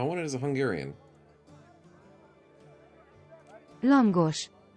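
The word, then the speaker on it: lángos: Langosh. Langush. Yeah, there we go. There we go. It's with the gush at the end. The SH. It's like an invisible H, but it counts. Langosh.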